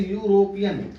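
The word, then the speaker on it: European: pronunciation करते है तो यूरोपियन का पहला क्या होता है यू जो कि र का है व स्वर वर्ण नहीं है ये व्यंजन के अंतर्गत आता है कंसोनेंट साउंड के अंतर्गत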